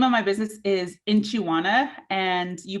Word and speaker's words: Nchi.wana: of my business is inchiwana and you pronounce that pronounce that inch like a measuring inch in chiwana and that